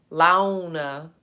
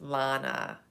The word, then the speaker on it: Lana: It isn't, if it isn't Lana gets hacked into Lana, Lana, Launa. My name is Lana, Lana. And when you're taught phonics, you articulate la, na, 2 syllables.